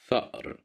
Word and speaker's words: فأر: Here we have the letter fa at the beginning of the word فأر, فأر, فأر, which means a mouse. Here we have fatha, so that's why we pronounce it as fa, فأر.